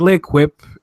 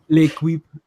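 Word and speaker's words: L'Équipe: Like L'Equipe is a very major. That's not how you pronounce it. L'Equipe.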